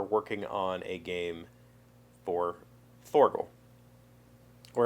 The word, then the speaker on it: Thorgal: on a game for forgo or if you're polish they pronounce it torgel it's fine um and